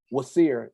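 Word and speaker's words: Wsir: etymology of the name Osiris pronounced wacer in ancient Egypt some have sought to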